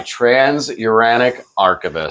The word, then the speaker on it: Transuranic Arquebus: My Transuranic Arquebus. Oh, perfectly pronounced, sir.